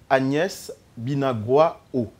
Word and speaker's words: Agnès Binagwaho: avons avec nous une landaise c'est le docteur agnès binagwaho le nom et bien prononcé accès par écorché votre nom très bien